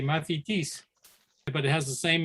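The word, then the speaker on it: μαθητής: It's pronounced differently, mathetes, but it has the same meaning as it did in ancient Greek.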